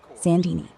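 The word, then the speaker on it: Saint Denis: Red Dead Redemption 2 context, Goob streaming, Chapter 6, Sandini, pronounced Sandini.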